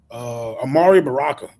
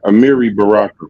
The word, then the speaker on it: Amiri Baraka: Amari Baraka, right? And he opened up a center. Amiri Baraka. Okay, I might be pronouncing it wrong.